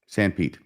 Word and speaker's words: Sanpete: Sorry, was that how Sanpete is pronounced? I would think so. Yeah, that's right. Sanpete.